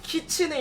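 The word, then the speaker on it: きつね: 뜻인가요 여우입니다 쉽게 말해서 여우를 일본식으로 발음 하면은 키츠네 있데 키치의 한국식으로 발음하면 기수네 참회 은어 이거 뭐야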